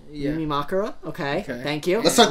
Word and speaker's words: Yumemakura: Yeah, it's usually on that third to last syllable. Yeah. Yumemakura?